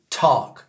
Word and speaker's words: talk: anglais et donc ça donne ça work et talk d'accord work marcher talk parler bien sûr vous